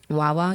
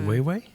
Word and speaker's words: Wawa: how you pronounce it? Wawa, yeah. How do you pronounce it? Way way?